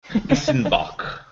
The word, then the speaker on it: Weizenbock: You have to say it like a German. It's a Weizen beer. Weizenbock.